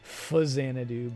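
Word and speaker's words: Faxanadu: facsanna do which i i pronounce it facsiana do i don't know how other people say it i know it's supposed to be fuzzanadoo but whatever i like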